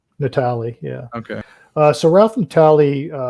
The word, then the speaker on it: Natale: Natale, yeah.